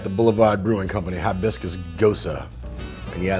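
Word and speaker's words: Gose: Boulevard Brewing Company hibiscus Gosa yeah that's pronounced go so like rosa you know I was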